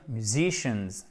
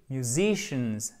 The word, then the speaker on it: musicians: chose pour moi d'ailleurs vous pourriez dire musiciens c'est pas mal on va comprendre mais faites bien attention parce qu'en fait c'est mieux musicians sauf qu'il faut bien faire le yoyo ok sauf qu'on l'entend pas beaucoup il est atténué pourquoi puisque en fait vous avez been votre accent tonique et le reste du monde the shins musician ça et on entend un petit e à la fin oui oui on l'entend